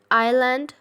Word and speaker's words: island: Underline the word island and repeat it 3 times with me. Island, island, island. So kids, S is silent in the island, okay?